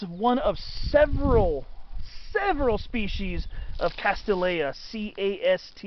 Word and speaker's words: Castilleja: It's one of several species of Castilleja, Castilleja, sometimes Castilleia, but it's usually spelled with a J. Castilleja, usually the J is pronounced as a Y sound.